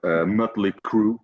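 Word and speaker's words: Mötley Crüe: Because then in Sweden we we actually use that letter so we pronounce it different. We say mut head mut head or mutly crew you know because of that uh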